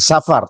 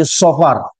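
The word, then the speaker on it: صفر: Coba kita bagus ejaannya bukan bukan Safar tapi saofar ya Apa arti Safar dalam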